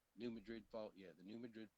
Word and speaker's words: New Madrid: New Madrid Fault.